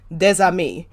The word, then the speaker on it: des amis: up on this, but des amis. Is that common that the ES, if you have a vowel after it turns into like a Z type sound?